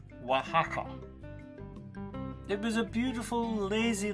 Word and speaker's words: Oaxaca: from Mexico City to Oaxaca which is actually pronounced Oaxaca it was a beautiful lazy little town and